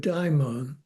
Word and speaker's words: daimon: So the Greek word daimon, it's Daimon, and the O in Greek is a long O. It's an omega.